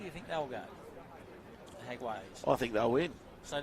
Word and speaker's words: Jaguares: going to say the Jaguares. Oh, can you say that Latin thing? What is that all about? It's Jaguar, isn't it? It's Jaguares.